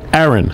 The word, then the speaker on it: Aaron: Aaron. Like Moses' brother.